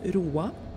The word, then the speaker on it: Roa: Naomi, this station is pronounced Roa.